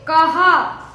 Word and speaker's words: कहां: आया हूं देखिए दोस्तों यहां पर कोई भी बिंदी नहीं है तो इसे हम क प और इसका उच्चारण हम गले से करेंगे कहा और यहां पर चंद्र बिंदी है तो हम इसका उच्चारण नाक से करेंगे कहां तो आइए अब हम